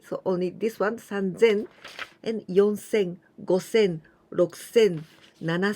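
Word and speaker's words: さんぜん: sen ni sin but sansen this was the irregular one sun zen not sunsen okay so only this one sun zen and yonsen gosen roxanne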